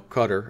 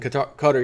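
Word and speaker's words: Qatar: says US dollar shortages hit qar you know cutter as they it looks like it's qar but it's pronounced cutter QA are the country which again Donald Trump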